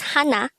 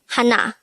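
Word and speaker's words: 하나: numbers number one is hana in native korean numbers again hannah is number one this is composed of two syllables the first syllable is ha second syllable is na pronounce it with me hana how do we spell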